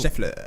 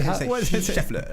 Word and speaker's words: Scheffler: Scheffler. Like Scheffler. You have to pronounce it German style, but that's not German.